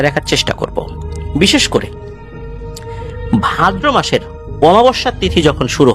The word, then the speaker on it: ভাদ্র: ভাদ্র মাসের অর্থাৎ ভাদ্র অনেকে এটাকে ভাদ্রা অমাবস্যা বলে। এটা মানে বিভিন্ন এলাকায় তাদের মত করে উচ্চারণ করে।